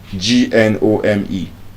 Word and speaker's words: gnome: It's gnome design fain the G will be silent when we have G coming before letter N and then in addition